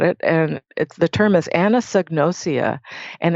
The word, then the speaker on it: anosognosia: Yeah, it's Anosognosia. It's Anosognia. I don't know if I got all the syllables in there, but if you Google it, it'll correct your spelling, and that'll be it.